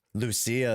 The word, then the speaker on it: Lucia: I really wanted to get what's the pronunciation of last pull with Vivian? Is it Lucia? Lucia, there you go.